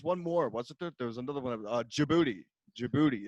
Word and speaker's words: Djibouti: more what's another one Djibouti Djibouti it's a question shabooey it's a country in Africa it starts with a D and then it's DJ and its own Djibouti that's how you say it's pretty classic well